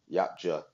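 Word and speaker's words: Yautja: Even I could be a um yacha yach.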